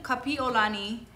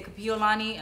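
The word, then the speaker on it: Kapiʻolani: hear the difference but there is a glottal stop originally when you pronounce her name because it is spelt with an okina between the i and the o or an a posture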